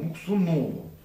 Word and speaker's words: Муксунову: Ударение на О. Муксунову.